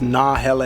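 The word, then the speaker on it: Nahele: cool yeah my name is it's nah hel Outfitters n a h e l e what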